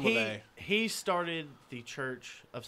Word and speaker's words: LaVey: LaVey. I knew I was saying it wrong when I said it. I was like... His name probably was Levy, but since he's a Satanist. No, it's Anton LaVey.